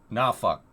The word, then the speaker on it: Norfolk: Norfolk.